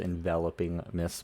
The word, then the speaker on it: Enveloping Mist: hot enveloping Mists now I know it's pronounced enveloping Mists but I see the word my brain says envelope so whenever you hear